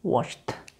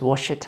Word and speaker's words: washed: So they are pronounced T, and E is silent.